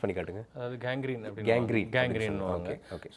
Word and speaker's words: கேங்க்ரீன்: Doctor, இந்த காங்கரியன் food அது எப்படி டாக்டர் ப்ரொனவுன்ஸ் பண்ணோம், நீங்கள் ப்ரொனவுன்ஸ் பண்ணி காட்டுங்க. அதாவது கேங்க்ரீன் கேங்க்ரீன்.